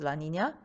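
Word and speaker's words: La Niña: Now, in contrast, there's the La Nina phenomenon, pronounced La Nina. La Nina means little girl.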